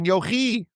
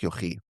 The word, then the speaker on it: Yochai: Comes along Rabbi Shimon Bar Yochi. Some people pronounce it Yochai. I like Yochi.